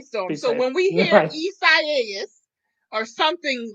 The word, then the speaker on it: Isaias: Let me say it first. Then I can. Isaiah? Is that it? So that's kind of what I thought at first too. And then we got the pronouncer, someone from the National Weather Service in Florida sent us a pronouncer. And I could be totally butchering this too. Isaias. I think I said that right.